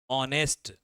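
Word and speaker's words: honest: लोग क्या देखते हैं ऑनेस्ट उच्चारण क्या हो रहा है अ हो रहा है यहां पर किसका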